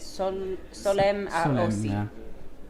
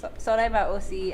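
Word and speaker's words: Solesmes à Haussy: But even I sometimes make a mistake because the pronunciation is not that easy in French anyway, so you've got some S's everywhere. So. Solem à Aussi, and then they do sectors...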